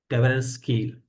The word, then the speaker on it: Tversky: like Daniel Kahneman, Amos Tversky. I do not know exactly it is pronounced. I think it is Tversky.